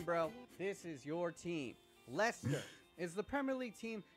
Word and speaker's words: Leicester: And yes, it is pronounced Leicester.